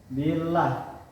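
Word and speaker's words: بالله: Contohnya billah, yaitu posisi lam jalalah didahului oleh harakat kasrah. Cara membacanya yaitu tipis, yaitu posisi bibir agak meringis sedikit.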